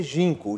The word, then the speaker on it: Ginkgo: seu resort primeiro conta a história do porquê ginco jim kg e nk jean seria ginco go mas hoje a gente não pronuncia então ginco é porque ginco é a